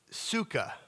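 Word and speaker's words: תשוקה: Now this word desire in the Hebrew uh is a word is the word suka. The t is silent.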